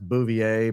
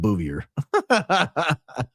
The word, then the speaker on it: Bouvier: I know it's pronounced Bouvier, but when you're reading from the thing, it's sometimes comes out booier.